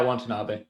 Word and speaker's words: Watanabe: And good on Watanabe, is that how it's pronounced? Yeah, Watanabe.